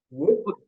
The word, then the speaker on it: would: Sama, kalau kita mau menyebutkan could, would, should, itu L-nya nggak perlu dibaca. Jadi, could, would, should.